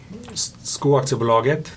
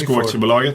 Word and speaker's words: Skoaktiebolaget: And Skoaktiebolaget, that's how you pronounce it, by the way. Skoaktiebolaget, yeah, for everyone I know.